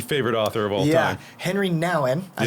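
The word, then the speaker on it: Henri Nouwen: if not the favorite author of all yeah henry nowin i said it right perfect there you go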